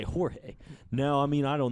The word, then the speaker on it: Jorge: with the J, and you hit the hard George. Jorge. It's Jorge. Yeah. Of course, you got to take a liberty, and you got to say Jorge.